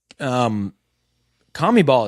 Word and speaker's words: CONMEBOL: CONMEBOL is crazy.